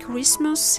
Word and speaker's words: Christmas: In mustn't, Christmas, hasten, fasten, moisten, chestnut, T is silent after the fricative S.